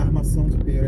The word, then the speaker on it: Armação de Pera: Armação de Pera is the right way to say it.